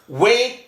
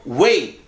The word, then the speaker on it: wait: Wait, menunggu. Menunggu, wait. Nah di sini diftong. Ei, ai. Ei, wait.